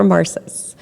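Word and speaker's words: Emarsys: Vice President of Sales for the Americas at Emarsis. And if you take away nothing else today, you now know how to pronounce our name. So, hey, we're Emarsis.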